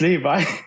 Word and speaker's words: Levi: Is it Levy or Levi? Levi, probably. It's Levi.